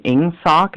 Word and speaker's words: Ingsoc: Forgive me for the pronunciation. Ingsoc, is that the correct pronunciation of that song?